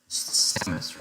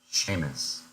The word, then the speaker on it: Samus: Samus, right? I think I said Sheamus.